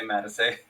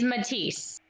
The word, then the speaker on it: Matisse: I'm still gonna say mad to say we both sitting how to say it's technically Canon but I'm just letting you know the proper pronunciation is Matisse which one it be